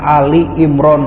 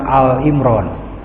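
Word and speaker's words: آل عمران: Bacanya Ali Imran bukan Al Imran. Kalau Al Imran, Imran itu. Kalau Ali Imran, keluarga Imran.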